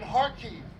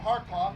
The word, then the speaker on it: Kharkiv: Because the T-34-85, the T-34 period, was designed and developed in Kharkiv, or Kharkov, depending on how you pronounce it, in the Ukraine.